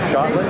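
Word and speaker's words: Schotland: Moab m o a v I'm with shotland shotland that's how you pronounce it yes s c h o t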